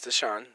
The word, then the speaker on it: Deshaun: Yes, Deshaun.